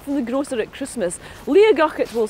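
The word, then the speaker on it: Liathach: As it is written, it is pronounced Liatach, but I know that old native Gaelic speakers from Torridon sometimes pronounce it Liatach, where the T in the middle should be a G.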